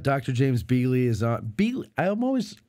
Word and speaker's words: Beeghley: Beeghley. There's a hard G in there.